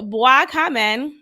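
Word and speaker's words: Bois Caïman: So it's Black Kamen. That's how you say it in French.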